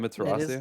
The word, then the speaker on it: Emmaterasuu: Yes, it is Emmaterasuu.